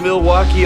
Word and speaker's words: Milwaukee: If you're not going to do that, then you could just Do you come to Milwaukee often? Actually, it's pronounced milwauke for the good land.